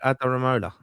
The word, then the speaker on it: Adaramola: What's the Aramola. second name? Adaramola. Yeah, Adaramola, yeah. Adaramola. Yeah, I thought Well I'd done.